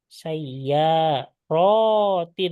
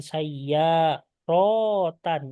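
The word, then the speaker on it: سيارات: Sayya rotin. Jadi bukan sayya rotan. Nah, bukan seperti itu, tapi sayyain.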